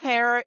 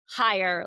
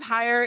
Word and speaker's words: Heyer: Hire like because it depends on where in Germany the family came from as to how they pronounce it. So Hire is here to talk